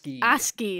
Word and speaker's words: ASCII: ASCII. It's for some reason the C is a hard C.